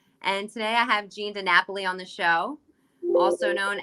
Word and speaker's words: DiNapoli: you said it perfect i have italian people they call me jean dinapoli the it's the stuff that